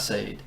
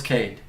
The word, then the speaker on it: Cade: it's Kade it's not Sade how else would you pronounce that s but it's Cade okay with a a hard C with the c okay